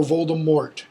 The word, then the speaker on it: Voldemort: Voldemort, or Voldemort, as Americans pronounce it.